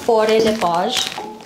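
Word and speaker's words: Faure Le Page: This is the Fore de Page. Ganun siya i-pronounce.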